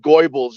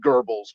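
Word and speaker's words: Goebbels: uh Dr ysep Geral it it's not pronounced Gobles it's pronounced geres because of their weird my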